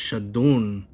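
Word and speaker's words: שדון: And it says here in the Hebrew, Shadun, in the book of Job 19, verse 29, it is pronounced Shadun, but spelt Shedin, literally demons.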